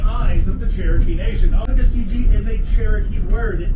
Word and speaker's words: Tuckasegee: This is the Tuckasegee River, Tuckasegee. It's spelled almost the way that it sounds.